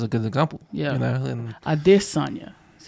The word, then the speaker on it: Adesanya: And Adesanya is how you pronounce Adesanya.